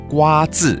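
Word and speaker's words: 挂纸: 瓜字 is how you say it in Hakka.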